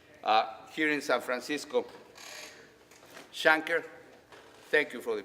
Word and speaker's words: Shanker: of the American Federation of Teachers led by schockner here in San Francisco Shanker thank you for the pronunciation Shanker all right a we can expect the idea